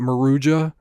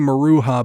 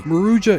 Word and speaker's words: Maruja: Is it Maruja? Maruja? I was saying Marua before. Apparently, that's wrong.